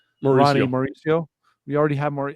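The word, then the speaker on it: Ronny Mauricio: Ronnie Mauricio.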